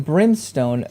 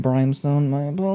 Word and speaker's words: Brimstone: hmm a pioneer in brimstone BC - three exothermic experiments you see how I said it right that time I'm sorry for everyone who watched that through my video and I've kept saying brianstone news she collaborated with